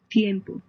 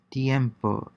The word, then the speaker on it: tiempo: siempre, tiene, tiene, yes, tiempo, tiempo, which means time or weather. Listen and repeat. Concentrate on combining the two vowels into a single syllable in the manner of the native speakers.